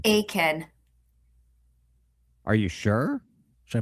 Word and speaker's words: Aitkin: It's, Aiken. are you sure? Should I play Yeah, it I again? don't think you pronounce the T.